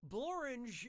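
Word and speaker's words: Blorenge: save ourselves some time borange is a real place and it really rhymes with orange but if you visit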